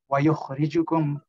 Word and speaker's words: وَيُخْرِجُكُمْ: أعوذ بالله من الشيطان الرجيم ثم يعيدكم فيها ويخرجكم إخراجا. Very good. So you did a very nice job there with the letter kha, ensuring that you got that scratch.